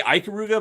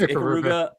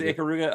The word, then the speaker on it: Ikaruga: Uh, I always say Iuga, but other people say like, "No, you're saying it wrong." It's Icaruga. It is Ikaruga.